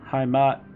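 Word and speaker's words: Heimat: hdk on bandcamp that's hi Matt Derek catastrophe that's how I pronounce it at least uh hi Matt is spelled h-e-i-m-a-t by the way so let's get started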